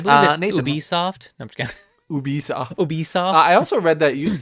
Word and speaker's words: Ubisoft: start with this one uh march 26 1986 ubisoft is that how you pronounce it yep um was founded uh fun